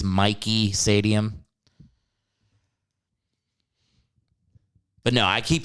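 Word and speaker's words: Michie: game at mikey stadium it's pronounced mikey by the way not mishy announcers getting paid half a million dollars can't learn the correct pronunciation it's mikey stadium but no i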